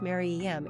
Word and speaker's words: Mariam: to stay this time the mark Dash prefix as opposed to the mirror Dash prefix suggests the name might be pronounced Mary em instead of m-i-r-e-m then there's also the